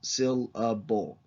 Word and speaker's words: syllable: what a syllable is the word syllable has three syllables SIL a bull and natural accidents go on different syllables in that word syllable I'm putting an accent on syllable on the first and the last syllables and syllable and I'm there's less accent on up the middle it's just to give